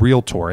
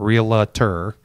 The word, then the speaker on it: realtor: and a realtor and yes that is how you pronounce the word realtor it's not real terr sorry for those of